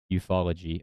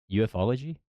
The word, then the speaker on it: ufology: play a prominent role in fantasy science fiction eupfology. Oh, u e ufology.